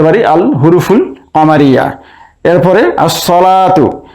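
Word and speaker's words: الصلاة: আল হুরুফুল কামারিয়া এরপরে আসসালাতু এখানে আলিফ লামের লাম উচ্চারণ হচ্ছে না তাই আমরা এটিকে বলতে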